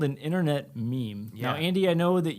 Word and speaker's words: meme: not a me or a m it's a meme so good job pronouncing it correctly because a lot of people